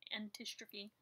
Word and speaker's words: antistrophe: So I think, first of all, when I made the video, I said Antistrophes, plural, and it's a singular word thing. There's no S ever. It's an antistrophe. And you did say it right, yes.